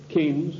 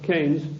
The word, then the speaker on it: Keynes: they sent John Maynard Keynes or Keynes he said Keynes was a better word because it arrived with it rhymes with brains and this is a